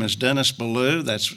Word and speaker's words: Belew: and that's good and my name is Dennis Balu that's spelled be e ll e w my wife